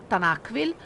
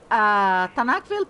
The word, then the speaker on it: Tanakville: It's actually pronounced Tanakville, but I tend to anglicize it. Tanakville Plays, it's on YouTube as well.